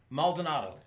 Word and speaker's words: Maldonado: Can you pronounce his last name? Maldonado.